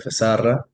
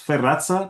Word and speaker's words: Sferrazza: Muchas gracias, doctor Fesarra, ha sido un gusto y el equipo de derechos humanos le agradece su presencia. Muchas gracias, Rodrigo. Mi apellido solamente es Ferraza, pero bueno, da lo mismo como lo pronuncien.